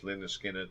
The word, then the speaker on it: Lynyrd Skynyrd: from the debut album pronounced Linda Skinner give me three steps